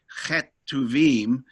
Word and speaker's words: Ketuvim: The two spellings that I've come across regularly, Ketubim, yeah, or Ketuvim. And I guess that's a pronunciation issue? Yeah, it's just a pronunciation issue because our Western throats are unaccustomed to making the guttural sound that the CH does in the Hebrew language. So actually it's Ketuvim, but to our way